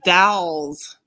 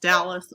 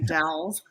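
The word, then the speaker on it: The Dalles: was a kid o they have a Dows it's it's spelled the same as Dallas but DS Oregon so we always call it Dallas Oregon but it's really DS that's funny yeah I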